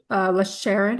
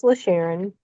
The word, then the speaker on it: LaSharon: Sharon. I want to make sure I'm saying it right. Yes, it's LaSharon. Okay.